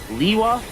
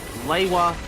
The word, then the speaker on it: Lewa: Which means that for the one story, his name has three possible cannon pronunciations. Leewa Lewa Lua. It's Lea.